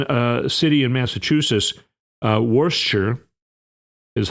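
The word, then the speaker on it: Worcester: it was in a city in Massachusetts, uh, Worchshire is how it's pronounced actually. It looks like Worchester, but everyone pronounces it. Worsture, Massachusetts.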